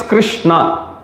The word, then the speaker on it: Krishna: has got two syllables likewise Krishna means Krishna that's two syllable okay so when you chant when you say Krishna you make sure you pronounce it properly and you hear it